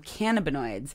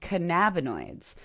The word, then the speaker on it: cannabinoid: heard them also called cannabinoids. Both of these are correct. I'm going to start with that. Both of these are correct. There's no correct way to say this word.